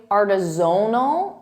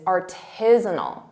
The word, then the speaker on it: artisanal: students confuse the syllable stress and they say aronal and they put the syllable stress on Zone which isn't correct the correct pronunciation is artisanal tal that's the syllable stress artisinal repeat that